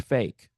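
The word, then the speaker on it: PHEIC: of international concern uh that acronym by the way is pronounced fake pronounced fake all right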